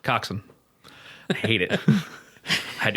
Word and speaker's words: coxswain: It's spelled Coxswain and pronounced Coxswain. I hate it. I had to go back and just say like a sentence with Coxswain in it and Gunnel in it like 3 times.